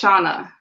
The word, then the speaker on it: Shana: shauna but it's it's shauna so think of it yeah so think of ghana so just with the